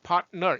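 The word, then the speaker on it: partner: 이거 파트너 3음절이 아니고 2음절이라고 그랬어요. 그래서 파트너 이렇게 하시라고 그랬는데 이거 하라니까 잘 안 돼.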